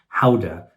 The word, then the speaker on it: Gouda: which is like a Swiss cheese, ylesburg cheese, gouda cheese. Gouda is actually pronounced howa in the Netherlands.